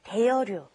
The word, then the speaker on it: 대여료: It's kind of hard to pronounce because your tongue's kind of moving around in your mouth. It's 입장료 and then 대여료.